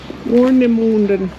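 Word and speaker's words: Warnemünde: Warnemunde.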